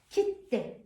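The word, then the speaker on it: 切手: 앞에 액센트 주면서 읽어보겠습니다. kit대, kit대. 다시 한번 kit대, kit대.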